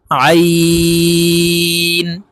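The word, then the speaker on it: عين: মোটা হবে ত হরফ মোটা করে পড়তে হবে আইন আইন হরফ হালকের মধ্যখান থেকে দিয়ে উচ্চারণ করতে হবে কারণ আইনের মাখরাজ হলকের মধ্যখান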